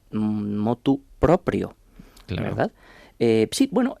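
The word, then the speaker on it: motu proprio: De ahí viene, por cierto, la locución latina, que quien quiera pronunciarla bien ha de decir mot propio.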